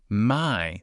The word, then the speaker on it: 买: 买 My, that sounds exactly like my. Close enough. Third tone though, dip down, then up, like you're asking a question.